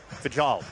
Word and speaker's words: Fijal: Fal.